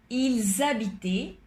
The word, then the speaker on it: ils habitaient: La H siempre está contado como una vocal, con lo cual la S aquí está seguido de la H y tenemos que pronunciar bien como si fuera una Z francesa.